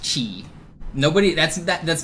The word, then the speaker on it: qi: It's pronounced chi.